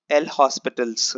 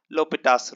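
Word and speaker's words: L'Hôpital: L'Hopital's rule or L'Hospital's rule. Okay, it depends on the different people pronounce it in different way. So I pronounce it as L'Hopital's rule.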